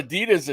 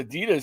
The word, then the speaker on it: Adidas: that you know well that's like Adidas we call Adidas Adidas here in America but in German it's a German brand it's called Adidas there arida y'all never would